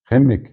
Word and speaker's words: Khimik: Khimik. On dit, ça s'écrit Khimik, mais moi je parle pas l'Inuktitut, mais en Inuktitut on dit Khimik. Et donc Khimik, ouais. Comme en arabe.